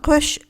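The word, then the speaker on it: coup de feu: 그래서 여기서 는 라고 발음 하시면 됩니다 .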